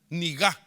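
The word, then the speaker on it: נגע: Le faltó el acento en la A. Niga. N-E-G-A. Niga.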